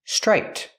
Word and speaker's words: striped: what about this word this word is striped with a T at the end for the Ed striped this is a striped shirt when I put it together with a consonant shirt you don't really hear the T it's a stop te link The Sounds it's a strip shirt the tongue goes up but you don't really hear it this is a striped